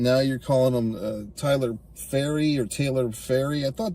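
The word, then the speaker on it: Pharry: uh early on there's a character named Taylor faery that's how it's pronounced p h a r r y so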